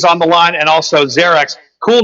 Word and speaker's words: Xerex: at the page going i know it's it's a z sound do me a favor xerix talk to me a